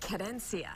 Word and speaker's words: querencia: How do you pronounce it? Querencia. Querencia.